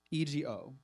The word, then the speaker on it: Fuego: And then FU, which is spelled, FUEGO. Fuego.